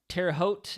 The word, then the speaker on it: Terre Haute: Terre Haute, I believe is how you say it. I remember I learned that last time thanks to a TikTok viewer.